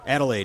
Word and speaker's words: Adelaide: Adelaide, yep.